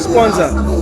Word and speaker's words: Sponzar: It's called Sponsor. It's for all you creatives out there. Okay. Sponsor, like SPONZAR.